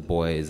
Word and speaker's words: Vho: like, I'm with the boys, and, even now as I've been married, so in vendor culture, when you show respect to someone, you add VHO before their name, pronounced Bo, so I'm referred to